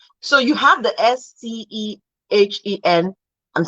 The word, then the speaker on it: stehen: Once a consonant follows that S, it changes. It becomes SH.